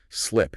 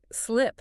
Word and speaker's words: slip: For the short I in slip, your jaw has to drop slightly, and your mouth must remain entirely relaxed. Slip, it is a quick, almost lazy sound. Right. Slip.